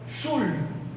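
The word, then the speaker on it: tzul: And he discovered that the word for dog was Zul, T-Z-U-L, Zul. He said, I have this from Landa already. In Landa was this syllable, but it was not this one.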